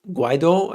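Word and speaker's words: Guaidó: to commit the dialogue with guado i believe is the pronunciation but this is funny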